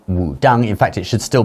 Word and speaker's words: Wudang: Okay, so Wu-Tang is just another way of using English letters to write Wudang. In fact, it should still be pronounced Wudang.